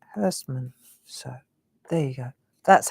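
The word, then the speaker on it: Herstmonceux: And it's called Hurstmansur. Let me write it for you so you know where to, because it's not as you would think it.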